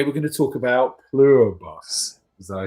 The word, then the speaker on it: Pluribus: And today we're going to talk about Plurbus.